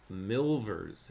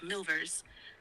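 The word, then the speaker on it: milvers: of a type which they have christened quote milers m i l v RS partly because it is a good word word partly because it quote supplies a long-felt want in end quote in rhyming with silver Barfield hopes soon to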